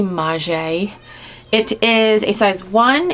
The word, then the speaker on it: Maje: how to pronounce it i called it mage i think in my last video in my last haul video but it's actually maje it is a size